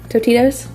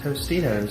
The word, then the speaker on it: Tostitos: yeah and then the i always say this wrong topitos tostitos tostitos there's an s there but i know i